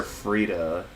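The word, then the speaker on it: Friede: I always thought the E was silent, but people pronounce her name as Sister Freda.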